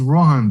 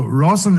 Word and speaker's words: Roshan: So Roshan is the right way to say it, huh?